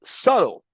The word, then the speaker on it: subtle: So subtle, the word subtle, as she said, has a B in the spelling, but the B is silent.